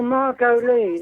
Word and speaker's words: Margolyes: I can't pronounce it. Is it Margot? Miriam Margolyes. Oh, Margot Lee.